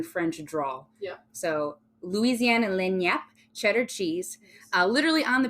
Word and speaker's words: Lagniappe: How do you pronounce that, Keely? Lagnappe. See, it wasn't even fucking close.